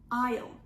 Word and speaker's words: aisle: in the word isle the s is not pronounced aisle aisle is the passage between